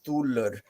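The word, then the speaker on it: þulr: people will say um like a Modern English they'll say thile uh in Old English it was Fila and amongst the Norse it was thulur but it has a very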